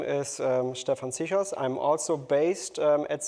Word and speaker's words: Stephan Cichos: So next I would like to introduce Stefan Chos. Thank you from Bayer. Yeah, rightly pronounced. Thank you very much. Cool. Yeah. Good. Good afternoon everybody. Uh my name is um Stefan Sos.